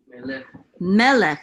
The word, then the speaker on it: melech: Melech. So in this book, we're gonna, if it has an accent mark, it wants you to accent that syllable.